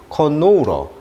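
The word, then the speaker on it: canola: 그다음에 우리가 이제 카놀라라고 하는데 영어식 발음은 이제 이음절에 있습니다. 커노우러, 카놀라, 유채꽃 씨앗 기름이라고 하죠.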